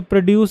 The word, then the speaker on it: produce: So, produce is to make something, but produce What is pro if you emphasize on the first syllable, produce, not produce.